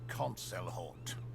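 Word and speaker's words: Concelhaut: I am Concelhort. Oh, hey, I've been pronouncing it correctly.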